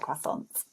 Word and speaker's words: croissant: A croissant. I like croissants. See, we would pronounce that more as a sophisticated French person, and we would say croissant. So the stress is on the second syllable, croissant.